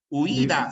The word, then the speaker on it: huida: Huida, se pronuncia así, huida, es una palabra grave que termina en vocal.